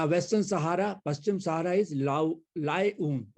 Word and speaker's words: Laayoune: सहारा, पश्चिम सहारा इज लाएऊन। इसको याद करें, लाएऊन, ऊन लेके आए। इसकी स्पेलिंग थोड़ी सी मुश्किल है, LAAYOUNE, लाएऊन। तो एल्जियस, ट्यूनिस, ट्रिपोली, कैरो, खार्तूम, लाएऊन।